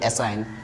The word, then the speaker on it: assign: इसको क्या पढ़ते हैं आप लोग? क्या पढ़ते हैं? एन से पहले क्या आ रहा है? जी आ रहा है. इसलिए क्या हो जाएगा? जी हो जाए साइलेंट. और जी हो जाएगा, जी को हटा ही दो. इसको मतलब समझ लो ये है ही नहीं तो इसको पढ़ेंगे एसाइन.